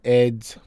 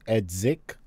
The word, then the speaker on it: Edzik: look we're at uh eds or edsic it's pronounced edsic his youtube page like